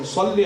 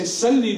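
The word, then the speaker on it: صلّ: Ali Muhammad by saying, Salli ala Muhammad wa Ali Muhammad, instead we say Salli with the Sin, we say, oh Allah kill Muhammad and Ali Muhammad. Because we don't pronounce the Sad.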